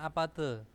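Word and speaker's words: 아파트: itu ada apa ada Apate Apate itu adalah bukan apace ya Apate Apate nah Apate itu ada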